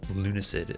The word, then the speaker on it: Lunacid: I guess of the games I played that came out this year, I mean, Lunacid, or Lunacid, as some people have told me it's supposed to be pronounced, because Lunatic, Lunacid, but I think